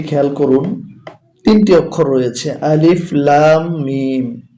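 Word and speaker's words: الم: রয়েছে আলিফ লাম মিম দেখুন আলিফে কোন কিছু নেই তাই আলিফ শুধু অক্ষরটি উচ্চারণ হবে লামের উপরে মোটা চিহ্ন আছে তাই চার আলিফ টেনে পড়তে হবে মিমের উপরে একটি তাসতদ আছে এবং মোটা চিহ্ন তাই গুণনা করতে হবে সবুজ কালির জন্য আর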